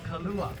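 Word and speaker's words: kalua: cooking the thing uh the style of cooking is called kala k a l u a Kala no h in there that would be the liquor so kala steaming and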